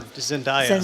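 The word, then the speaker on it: Zendaya: Zindaya. Zaya. Thank you, Zoe. When uh played by Zenaya and the whole tennis career changes.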